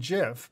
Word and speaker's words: GIF: GIF stands for Graphics Interchange Format and is pronounced GIF by some and JIF by others.